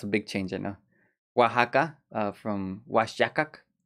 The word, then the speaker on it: Oaxaca: big change i know oaxaca uh from washington used to be pronounced washaka in spanish but then the sound changed into ha like mexico changed to